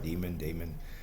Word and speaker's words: Daemon: I pronounced it right, Daemon.